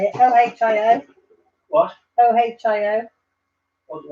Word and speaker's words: Ohio: O-H-I-O.